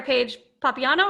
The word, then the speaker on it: Paige Papiano: Okay, sorry, Paige Papiano. Is that how you say it? Yep, that's it exactly, actually.